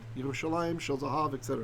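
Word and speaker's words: ירושלים: And the usual way we say Jerusalem is Yerushalayim, right? Yerushalayim, Shel Zahav, etc., right?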